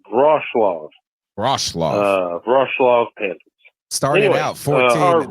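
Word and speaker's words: Wrocław: So it's spelled W-R-O-C-L-A-W, but the W's are like a V. So it's Rochlaw.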